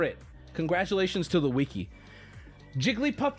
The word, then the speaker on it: Jigglypuff: congratulations to the wiki Jigglypuff in the show is three syllables with conflicting evidence for both sides everything is conflicting right you guys aren't listening nobody listen to me all the evidence is conflicting right the Wikipedia says it's four the the the game and the show she does three when she sings it's four what when you say jiggly it's two when you say puff it's one so that would be three right so what can we